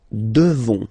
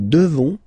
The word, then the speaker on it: devons: Nous devons, okay? Classic ending, ONS for nous, okay? You just pronounce this on, O-N, this nasal, okay? And then the S, final S is not pronounced.